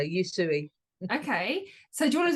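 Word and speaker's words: Usui: you you you sure you suie okay perfect think chop suie and just it might come easier you suie okay so do you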